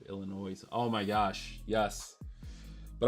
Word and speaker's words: Illinois: doesn't it it's like people who pronounce the S at the end of Illinois's oh my gosh yes